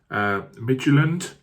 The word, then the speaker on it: Midtjylland: I think you say it as Midtjylland.